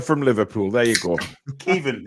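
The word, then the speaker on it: Caoimhín: It's Kevin. Kelleher from Liverpool. There you go. Kevin is how you pronounce his first name.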